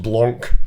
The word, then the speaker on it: Blanc: Right, and he was like, it's pronounced Blanc.